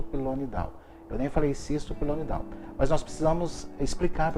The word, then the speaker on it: pilonidal: Aliás, a pronúncia correta é essa? Ou é pelonidal? Pilonidal vem de pelo, né?